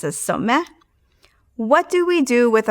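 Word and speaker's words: סומא: We often pronounce this as suma. It's actually properly pronounced as someh.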